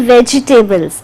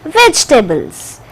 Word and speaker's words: vegetables: Similarly, you are not going to say vegetables. It is vegetables.